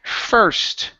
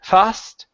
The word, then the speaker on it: first: First, instead of fast, it's an sound. His first race. His first race. Okay, pronounce that H.